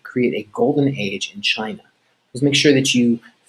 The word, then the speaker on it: Qin: another video on ancient china last time we talked about the qin dynasty remember qin is pronounced chin and we talked about